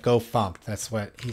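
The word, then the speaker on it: gofumpt: Speaking of RoguePike, apparently Go FMT is Go Fumped when you do that. You should pronounce that Go Fumped.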